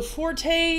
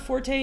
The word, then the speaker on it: forte: the true is right the E is silent so Forte is not Forte it is Fort which makes you really